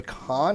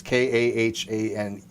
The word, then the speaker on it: Kahane: reading a guy named I think you pronounce his name Khan or Kane. It's Guy Kane. Again, I know who he is. It's Kahane.